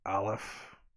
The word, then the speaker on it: Aleph: He said it was a guttural. It starts in the back of the throat. Aleph.